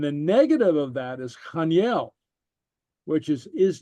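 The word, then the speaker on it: chan eil: And the way we pronounce the ha right here, it's a softer guttural. So it's chaniel.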